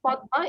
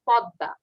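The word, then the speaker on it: পদ্মা: Staple, not Padma, it's pronounced is Podda.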